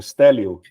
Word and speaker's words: Stélio: Teu nome se pronuncia assim mesmo, Stélio?